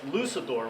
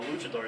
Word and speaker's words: luchador: and they were calling it lucidor which sounded you know like like the devil yeah that's the last thing I would want you to say but you know everyone's got their own way of pronouncing things but I assume everybody knows what a Luchador is and apparently that's not